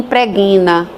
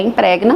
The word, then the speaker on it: impregna: O perfume é ruim preguina. Não. Você, uma vez sabendo que o correto é impregna, você vai usar corretamente a palavra ou então substitua por outro.